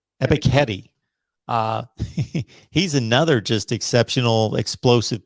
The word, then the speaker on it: Ebiketie: Arnold, I want to pronounce his name correctly, Ebiketie? I think it's Ebiketie. Ebiketie.